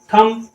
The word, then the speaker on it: thumb: हैं, everybody calls थम, लेकिन ये थंब नहीं है, यह थम, NUMB। ये क्या है, नंब नहीं है, यह है नम। ठीक है, इसी प्रकार से इसका प्रोनाउंसिएशन है, यह है बॉम्ब, बॉम्ब, थम, नम, इस प्रकार से।